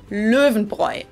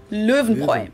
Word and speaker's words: Löwenbräu: so V, and the R is pronounced in the back of your throat, like in French. But if you can do a rolled R like in Spanish, that works too. So then if you put it all together, it's Löwenbräu. Löwenbräu.